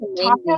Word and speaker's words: Tanya: it's like my whole life I've always had to be like, no, it's Tanya, not Tanya.